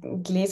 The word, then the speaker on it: Glas: make for please suggest to improve my German pronunciation yes of course the reading series is called glaz on a text um glaz on something like glass uh like a a